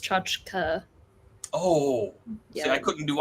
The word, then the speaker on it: tchotchke: mispronounce uh misspell aunt it's pronounced chachka oh yeah i couldn't